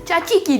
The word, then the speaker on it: Tzatziki: So today we'll be making healthy smashed potatoes with the delicious dill dip, which is also called Tzatziki dip, or in Greek pronunciation, Tzatziki dip.